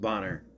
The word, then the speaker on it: Boner: We get Boner. It's pronounced Bonner.